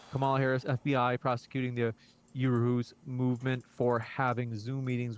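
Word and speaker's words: Uhuru: Can you pronounce it again, or what was this question? Yeah. Uruhu, U-H-U-R-U.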